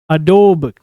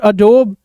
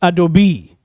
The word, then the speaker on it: Adobe: अक्सर लोग इसको मिस प्रोनाउंस कर देते हैं, Adobe. But it's not Adobe, it's Adobe.